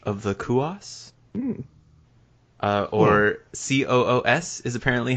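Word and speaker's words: Coös: called The Witch of the Kos uh or C oos is apparently how that word is pronounced I've always been calling it cou or reading it as cou it is the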